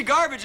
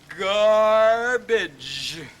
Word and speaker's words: garbage: G's in the word the first one is pronounced G and the second one is pronounced J don't you see it's it's garbage you mean to tell